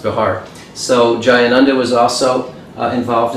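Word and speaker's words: Bexar: at bahar county jail b-e-x-a-m-a-r is pronounced bihar so jayananda was also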